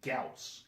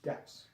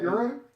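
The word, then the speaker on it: Gyaos: It's pronounced Gauss. Gauss. And when I first saw it, I was like, Gauss? And I tried... Euro?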